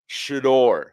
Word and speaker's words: Shedeur: Anybody who's covering this team, it is Shedeur, not Shedeur. There are people that say "dur," and it's not like a Southern twang. I'm not saying that. It's like Shedeur Sanders. It sounds nerdy. No, Shedeur. Shedeur. Say it right, please. Good Lord, say this man's name correctly.